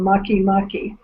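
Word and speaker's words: Makemake: one of which is called Mucky Mucky. Yeah, it's pretty interesting. But when you look at the way it's spelled, it's like make, you know?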